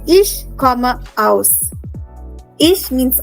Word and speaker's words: aus: But mostly we say ich komme aus. Ich means I. Okay? Now some of you might be wondering, how do you pronounce aus? It is aus. Yeah? Aus.